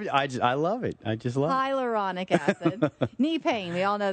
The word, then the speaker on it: hyaluronic acid: Hydrocolonic acid? How do you pronounce it? It's not. Don't laugh at me already, Nick. Hyaluronic acid.